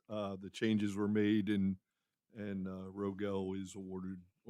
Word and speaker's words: Rogel: It's Rogel. Rogel. Rogel. Yeah, there you go. Thank you. He was using the French.